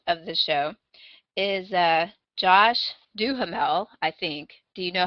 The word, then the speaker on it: Duhamel: The other one, the other star of the show, is Josh Duhamel, I think.